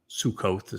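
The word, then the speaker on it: Sukkah: The verbal root of Sukah, Sukkoth sometimes is how it's pronounced, but it's Sukah, is Sakak.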